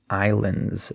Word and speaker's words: islands: pronunciation of this word notice that the S is silent so we say Islands there's no s sound okay so I'm going